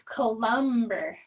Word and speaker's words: Cullenberg: It's Columber.